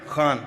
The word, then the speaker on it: Khan: Khan, am I saying it right? Khan from the Epiglottis.